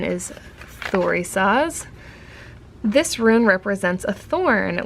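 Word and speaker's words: Thurisaz: Okay, so the pronunciation is Thorisaz.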